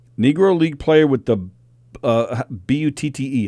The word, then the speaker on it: Butte: Negro League player with the B-U-T-T-E. How do you say it? Buddy? Butte.